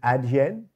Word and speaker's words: Adyen: it your company uh just to get the pronunciation is it ad yen yes yes so tell us about what you're